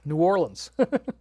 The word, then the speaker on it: New Orleans: That's how you got to pronounce it. New Orleans.